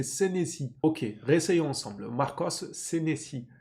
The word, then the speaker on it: Senesi: En plus, c'est même pas sensei. C'est Senesi.